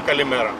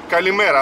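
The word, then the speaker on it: καλημέρα: Оно произносится как одно слово, хотя это два слова, но оно произносится калимера, оно произносится слитно, как одно слово звучит.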